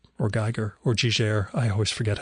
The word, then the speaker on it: Giger: Giger. Or Geiger, or Giger, I always forget how that's pronounced.